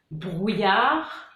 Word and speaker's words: brouillard: Donc, on a les mots finissant par ARD, art, donc par exemple, brouillard, léopard, donc on ne prononce pas le D.